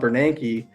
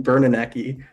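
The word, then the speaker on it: Bernanke: kept on talking about banki and they couldn't pronounce his name they they were calling him bernoni and it's like here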